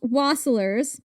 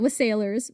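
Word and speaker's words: wassailers: In centuries past, waslers was sailors. Not was sailors. Waslers.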